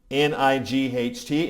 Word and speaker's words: night: Like if I say the word night, N-I-G-H-T, if I'm doing that phonetically, it comes out, right? It's a weird word.